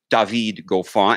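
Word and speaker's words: David Goffin: de Vigo fall just the new correct way to pronounce it dahveed go far and ypres and go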